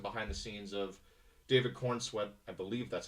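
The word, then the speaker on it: Corenswet: There was some behind the scenes of David Kornswe. I believe that's how you pronounce the It is.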